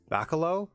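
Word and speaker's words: Bachalo: 2025 issues or so um forgive me for mispronouncing this gentleman's name it's like Chris Balo b a c h a l o oh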